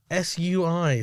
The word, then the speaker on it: Sui: So S-W-E-E. Yeah. Sui. It's sort of, yeah. Do you know what I mean? I'm guessing anyway. That's what it's saying here. Okay. So Sui, what is it?